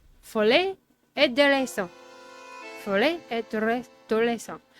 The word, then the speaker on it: Folie et Déraison: This is pronounced Folie et Déraison. Folie et Déraison. Now, the R, I really super can't do.